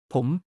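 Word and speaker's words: ผม: Pom. The universal standard for men. Sounds like poem rhymes with home.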